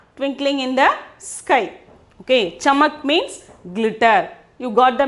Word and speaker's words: चमक: Okay, we have to pronounce it as chamak.